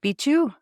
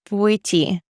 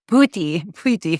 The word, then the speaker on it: Bwiti: Iboga and wood, or what was it? Bichu? What was the name? Bwiti. Bwiti. I really butchered that. It's a weird word. BWITI, Bwiti.